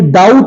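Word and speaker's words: doubt: नहीं होता है क्यों क्योंकि भैया हमारा बी साइलेंट होता है डाउट में डाउट नहीं बल्कि बी साइलेंट होने की वजह से उसका प्रोनंसिएशन डाउट होता है क्लियर है आइए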